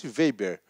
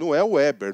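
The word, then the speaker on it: Weber: tomar que se vender olha pronúncia bôla de novo max veiber max weizer web não é em inglês da gente ele é alemão max vp foi um pensador alemão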